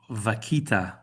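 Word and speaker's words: vaquita: citations, including the highly endangered uh vakita. That's the That's the good Spanish pronunciation of that.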